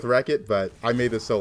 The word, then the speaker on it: Rechot: How do I pronounce my name? I go with Wreckit, but I made this so long ago.